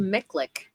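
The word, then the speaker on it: MICLIC: It's pronounced Miklik.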